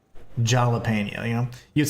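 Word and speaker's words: jalapeño: The H sound comes from a J. So that's why you say jalapeno instead of jalapeno, you know?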